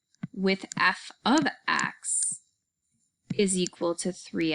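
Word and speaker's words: f(x): notation using this symbol this symbol does not mean f times x this symbol is pronounced as f of x so it does not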